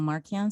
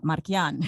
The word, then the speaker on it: Markian: and some people call marcian some people call marquis when i when i speak ukrainian i'm markian you know i and i have the accent on the a so you know some